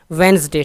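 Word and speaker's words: Wednesday: वेंसडे, ठीक है, वेंसडे इसमें डी साइलेंट है, वेंसडे।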